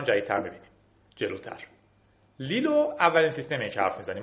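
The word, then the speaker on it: LILO: م جدیدتر میبینیم جلوتر لیلو اولین سیستمی که حرف می‌زنیم ما هر سه تا اینا رو حرف می‌زنیم لیلو حالا یا لایو من بهش میگم اینجا لیلو تلفظ درستش امیدوارم این باشه گراب و گراب دو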